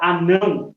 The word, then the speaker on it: anão: Por exemplo, na palavra anão, a sílaba não, ela é a sílaba tônica, ou seja, é a última sílaba, a sílaba tônica.